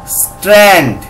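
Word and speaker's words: strand: এটা হবে এস টি আর এ এন ডি স্ট্র্যান্ড।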